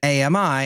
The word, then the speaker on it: AMI: images declines to issue pronunciation guide clarifying that Ami has three syllables Amazon work Docs support